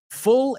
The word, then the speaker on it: full: Full es lleno. F-U-L-L, que no se pronuncia como fool. De hecho, he oído mucha gente decir fool, tonto, y full, the same.